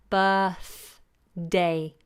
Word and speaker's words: birthday: struggle with this but that's the flat vowel sound I talked about earlier bur tongue between the teeth birth day birthday and in fact I'm